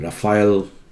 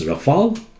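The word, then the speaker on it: Rafale: hear a lot about you know fancy people pronouncing raphael aircrafts both are wrong it's rafal aircraft aircraft does not have plural form of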